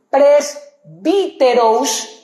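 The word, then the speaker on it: πρεσβύτερος: La o con una curvita arriba es una s, se pronuncia como s. Pres bi. La u es se pronuncia como una i. Presbíterous.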